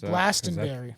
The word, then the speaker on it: Glastonbury: Glastonbury is Glastonberry. That's how I would pronounce it.